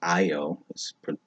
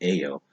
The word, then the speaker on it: Ayo: on her name as Io. It's spelled Ayo, pronounced Io instead of Ao.